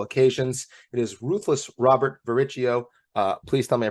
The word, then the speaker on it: Varricchio: with on multiple occasions it is ruthless Robert varicio uh please tell me I pronounced it correctly but Robin that's very impressive